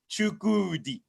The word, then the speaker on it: Chukwudi: Like I said, I appreciate the way you pronounce my name. I've not had anybody pronounce my name like that in a long time. You did it with the emphasis, Chukwudi.